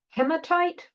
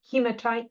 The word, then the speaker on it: hematite: So some of the common oxide minerals are hematite or hematite, you can pronounce it either way, magnetite, and limonite.